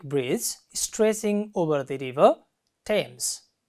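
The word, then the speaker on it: Thames: stretching over the river Tams how do you pronounce this word this is not THS this is Tams linking Westminister and Lambeth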